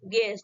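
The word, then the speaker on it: guest: जी यू ई एस, गेस्ट। ठीक है, यहाँ पे यू आपका क्या है, साइलेंट है।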